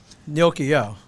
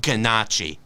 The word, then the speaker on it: gnocchi: okay i had that there was gnocchi there gnocchio and for reference it's pronounced gnocchi not ganache not ganache no no at least when you're